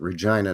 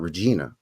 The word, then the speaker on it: Regina: Regina is Latin for Queen right but we pronounce it Regina not Regina and you are Gina Gina he what's up